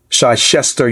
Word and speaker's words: Chichester: by Professor Hakeem Adai from, I believe it's pronounced Chichester University.